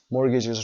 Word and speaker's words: mortgages: mortgages رو هم تلفظش رو آورده، تیش رو تلفظ نکنید، استرس در قسمت اول.